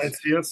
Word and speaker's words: Sightseers: Wie Ja, spricht man das aus? Sightseers, ja genau.